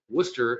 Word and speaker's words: Worcester: You can see Wor Worcester is uh I learned how to pronounce that last week. Worcester is located um you know 30 40 minutes to the east and Springfield 30 40 minutes to the west.